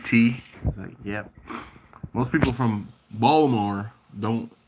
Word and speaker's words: Baltimore: yeah most people from baltimore don't there's baltimore but it's it's funny you have uh balmer folks balmer and you have bulma and